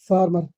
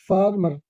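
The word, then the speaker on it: farmer: healthy H ई एल टी एच Y healthy H ई एल टी एच Y healthy सेहतमंद सेहतमंद फार्मर किसान फार्मर फॉर्मर नहीं फार्मर किसान ई एन जी आई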